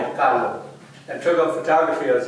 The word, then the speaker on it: Kahlo: How would you pronounce Kahlo in German? Kahlo. Kahlo, huh?